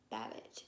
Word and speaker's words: Babbitt: today with the book tuck everlasting by natalie babbage is that how you say it yes i